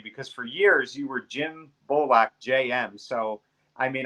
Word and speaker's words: JM: And just pronounce it Jim without the I.